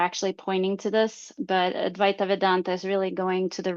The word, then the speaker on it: Advaita Vedanta: Um feel free to correct my pronunciation. So, one of your traditions that you said you had learned from was Advaita Ven Vedanta. It's Advaita Vedanta.